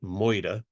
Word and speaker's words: murder: The easiest kind of a job to cover was a murder, he once explained, pronouncing it moida, because the stiff would be laying on the ground.